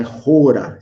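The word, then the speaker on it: ὥρα: E tem aqui um acentozinho que torna isso gutural, então é Rora. Esse é o jeito que provavelmente se pronuncia mais próximo, é Rora.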